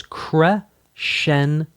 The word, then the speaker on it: crescendo: So crescendo is crescendo. Diminuendo is dim-in-u-n-do. Diminuendo. Diminuendo. Crescendo. It is technically correct to pronounce multiples of crescendo as crescendi and multiples of diminuendo as diminuendi.